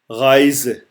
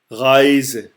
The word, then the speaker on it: Reise: Reise. Reise.